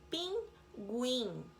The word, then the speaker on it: pinguim: algumas vezes é pronunciada Pinguim pronuncia yoo fogueira não pronuncia eo